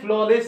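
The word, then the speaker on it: flawless: এইখানে লেখা আছে ফ্ললেস লেখা আছে, এ এবং ডাব্লিউ এর উচ্চারণ অ, দুটোই কমন আছে, কমন থেকে একটা জিনিসকে বার করতে হয়, সেটাকে অঙ্কের মতো আমরা বার করে নিয়ে আনলাম। এবার টোটাল সেটআপটার উচ্চারণটা এইটুকুন হচ্ছে লেস আর এইটুকুন হচ্ছে ফ্ল, টোটালটা হচ্ছে ফ্ললেস।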